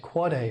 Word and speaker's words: AAAA: Similarly, you might not be surprised to learn that there's an AAAA, it's pronounced Quad A record.